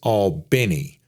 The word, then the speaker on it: Albany: Pronounced Albany, not like the capital of New York.